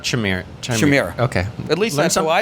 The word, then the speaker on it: Chimera: It's Shimiras, not Chimera.